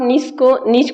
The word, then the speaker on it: niche: देखिए, बेसिकली आप नीच को नीश भी बोल सकते हैं। इसके कई प्रोनाउंसिएशन होते हैं।